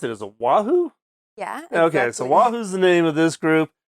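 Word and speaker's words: Wahoo: How do you pronounce it? Is it Wahu?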